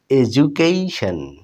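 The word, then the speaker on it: education: সবখানেই বলা যায় কিন্তু এই শব্দটি দেখুন কিভাবে উচ্চারণ হয় বন্ধুরা এডুকেশন এডুকেশন দেখুন এই ডি এর সামনে এবং পিছনে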